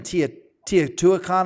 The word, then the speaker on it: Teotihuacan: And I think of all the, even Teotihuacan, I hope I said that right. Amazing. I said it wrong. How do you say it? How do you say it, Trevor? Teotihuacan.